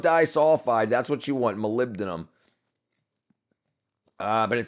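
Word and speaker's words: molybdenum: It's malibdum is how you pronounce it, but Malibenum dulfide.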